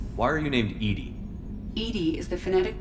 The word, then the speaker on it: EDI: jar why are you named Edy Edy is the fenetic pronunciation of e di that is an acronym